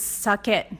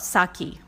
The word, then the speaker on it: sake: So Japanese rice wine is sake, not sake.